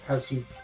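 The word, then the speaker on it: パズル: Tokimeki Memorial Tokimeki Memorial Tyson Pazuru Drama. It's basically puzzle. It's basically their pronunciation of puzzle.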